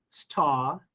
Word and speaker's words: star: of this rule, that if R is followed by any consonant, then R becomes silent. Or if R comes at the end of any word, then again R sound is silent. That's why I'm pronouncing it as dark, star.